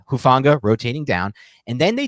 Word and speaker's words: Hufanga: he's rotating down anyway how do you pronounce it like Huff niggle like the old Giants offensive coordinator but hufanga rotating down and then